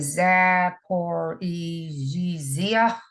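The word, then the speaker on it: Zaporizhzhia: this city but the new power plant and zap or egzia z-a-p-o-r-i-z-h was actually shut down on monday um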